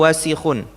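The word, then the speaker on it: وَسِخٌ: Wal almindilu wasikhun. Almindil wasikun.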